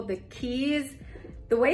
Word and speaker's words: quay: do is go explore what they call the keys the way it's spelled is q-u-a-y so my whole time I was pronouncing it